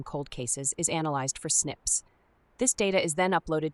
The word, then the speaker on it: SNP: A SNP pronounced SNIP is a single nucleotide polymorphism representing a difference in a single DNA building block at a specific position.